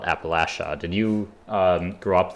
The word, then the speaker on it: Appalachia: oh did you um this is a contested pronunciation um I've always called it Appalachia but my understanding is that people who live there call it Appalachia did you um grow